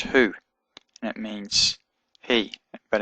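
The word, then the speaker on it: הוא: Hey, shurek, or vav with a little dot in it, aleph, and it's pronounced who, and it means he, but in this context it means that.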